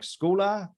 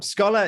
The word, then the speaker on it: Skola: is called scholar and it's pronounced scholar um some people have pronounced it like schooler or um Scola but um Scala is uh how it should be pronounced I guess scholar